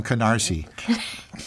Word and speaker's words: Canarsie: Oh, so that's not a KN word. No, it's not, but it sounds like one.